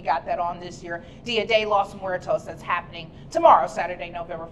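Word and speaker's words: Día de los Muertos: It's Dia de los Muertos, a creative celebration to honor our ancestors, and I pronounced that right.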